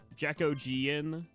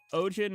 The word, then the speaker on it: Ojin: people pronounce it like, Jacojian. But yeah, Ojin is just like O, like in English anyway, it's just pronounced like O, and then gin, like a gin and tonic. So it's just Ojin.